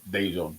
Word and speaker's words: Dejon: Yeah. Dejon. That is how he kind of pronounces his name.